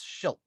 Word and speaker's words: Schilt: He was like, basically, it's he said it's pronounced like shit with an L. So Chris Schilt.